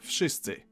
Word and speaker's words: wszyscy: the hell they want, in Polish you simply pronounce each sound one after another and you get the word. W, sz, I, sy, cy, I. Wszyscy. Okay, so we've explained a bunch of stuff and decoded wszyscy.